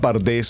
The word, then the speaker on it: pardés: palabra pardes que entre otras cosas esta palabra pardés significa jardín o huerto y cada una de